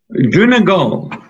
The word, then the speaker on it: Donegal: Donegal.